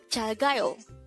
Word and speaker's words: 잘가요: 잘가요. 잘가요. This is pronounced as a three-syllable word. The first syllable is 잘, second syllable is ga, the third syllable is yo.